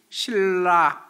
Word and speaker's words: 신라: 썼으면 틀니 신 겁니다 표준 발음법 제 20 판매 보면 미운 받침이 그 다음에 비율 좀 자음 하고 만나면 앞에 미음 같이 미 발음이 이은 으로 발음 되지 않고 뒤에 이 으레 영향을 받아서 리얼로 바뀐답니다 글씨 쓰는 건 그냥 미음 받침으로 신 이라고 쓰지만 읽을 때는 그건 신나 이렇게 금은 틀린거 고 신라 일으키 거야 맞는다는 거에요 그게 우리나라